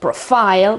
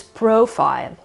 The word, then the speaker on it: profile: media every day it's profile profile with the accent of the beginning again on the o sound it's not at the end of the word it's not profile but it is profile and another one colleague